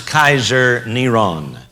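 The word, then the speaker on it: קסר נרון: This his name was pronounced as Kaiser Neron and you can see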